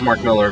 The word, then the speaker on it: Millar: Well, it says Mark Millar, but it is Mark Miller, which I've learned, and I still think it's incorrect.